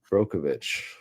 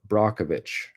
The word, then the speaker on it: Brockovich: yeah throwback movie bro Aaron bro brovich brov Brockovich say it correctly attuned flux what movie